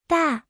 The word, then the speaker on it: 大: today's video, we'll teach you the Chinese character for big, pronunciation. Da.